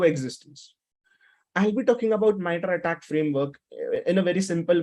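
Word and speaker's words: MITRE ATT&CK: miter attack framework okay many people call it as Mitra attack but the actual pronunciation is called as the miter attack framework or the miter attack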